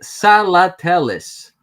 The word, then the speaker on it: Salatellis: Okay, I'm not gonna spell it. I'm just gonna say it. Salatellis. Salatellis.